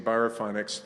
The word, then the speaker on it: Biorefinex: and food waste, and he created the amazing Biorefinex thermal hydrolysis technology. That's how we pronounce it.